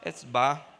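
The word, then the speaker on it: Hefzibá: É só falar o E e o Bar no final. Etzbar.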